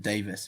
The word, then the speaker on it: Davies: absolutely Welsh Davies no they pronounced it Davis in Wales I got that that